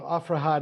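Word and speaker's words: Aphrahat: I'll spell it, but you'll know it's, so Afrahat is the Syriac pronunciation.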